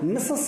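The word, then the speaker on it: Mrs: ये मिसेस जो बोल रहा है वो मिसेज के लिए है। अगर वो कोई अंग्रेज होता तो मिसेज बोलता, लेकिन वो वेल्श है इसलिए वो मिसेस कह रहा है।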